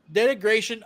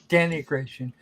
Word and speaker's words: degradation: was malfunctioning due to degradation of components. Degradation. Yeah. Not denigration. Degradation.